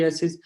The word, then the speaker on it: psoriasis: a p in the there is a p in the front but that should be silent so sorry psoriasis but that we can